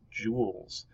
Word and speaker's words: joule: here and it's pronounced jewels kind of like jewels like a pirate would have in his pirate chef but not obviously written